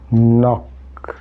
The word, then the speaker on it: knock: N, nose, not, knock. This K remains unpronounced.